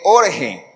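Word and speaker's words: ὀργή: griego que se escribe orge o sea como Jorge pero sin la J jge así Y esa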